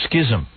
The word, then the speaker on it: schism: Rhymes with a really cool word.